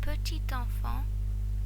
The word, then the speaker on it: petit enfant: However, if the last letter is a silent consonant and the following word starts with a vowel, then the normally silent consonant is pronounced.